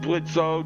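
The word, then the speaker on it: Blitzø: I know his name is pronounced Blitzo.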